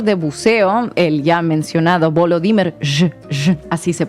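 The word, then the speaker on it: Volodymyr: contra un instructor de buceo el ya mencionado volo dimer así se pronuncia en junio pero la orden no fue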